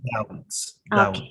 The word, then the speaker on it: doubts: Yeah, yes, you don't pronounce the B, but you pronounce the T. Doubts.